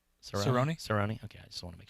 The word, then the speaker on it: Cerrone: somebody that and I'm saying it right roni Cerrone okay I just wanna make sure Oh have